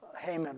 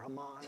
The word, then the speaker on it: Haman: into the story of hmon or hamon as as we call or Haman however you want to say I'll say hmon I think that's a a common pronunciation there are four beats